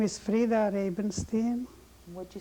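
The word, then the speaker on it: Frida Rabenstein: you state your name please my name is fra rabenstein what' you spell it for us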